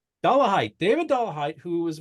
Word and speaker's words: Dollahite: asked you at a time how do we pronounce that dollah height dollah height David dollah height who was with a group